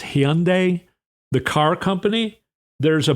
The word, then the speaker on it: Hyundai: It's Hyundai, the car company.